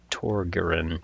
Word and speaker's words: Torgiran: I think I said to T toan. Uh, but it's Torren.